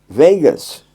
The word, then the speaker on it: vagus: This pressure on the ear is connecting your outer vagus nerve. I hope I'm pronouncing that right.